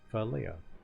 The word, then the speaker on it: Philea: realized, you know, like the last syllable, that's like Leia's name, except with A instead of an E. So, Philea.